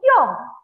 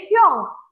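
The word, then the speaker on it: 형: Lalu ada juga kakak laki-laki itu Kyong. Kyong. Ini bacanya mungkin kelihatannya kayak romajinya Hyung ya. Tapi ini bacanya Hyung. Hyung.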